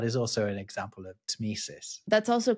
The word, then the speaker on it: tmesis: One that is really quite difficult to pronounce is tmesis.